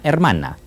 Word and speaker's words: hermana: Yo tengo una hermana. Yo tengo una hermana. Hermana. Hermana. Hermana. You don't pronounce the H.